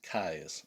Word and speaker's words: Keyes: I got all these Frances Parkinson Caius is how her name is pronounced and I think she